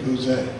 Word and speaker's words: Bouze: Every time you look around, you see an orange sign, and if you can't spell it, it's just plain old or Bouze. Mainly Bouze. That's the way it's pronounced.